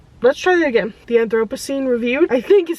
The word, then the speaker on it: Anthropocene: The Anthropocene Review, I think is how you say that word.